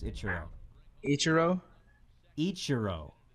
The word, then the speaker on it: Ichiro: on me for pronouncing it how do you pronounce it your own HRO Ichiro it's ro yeah but you might be wrong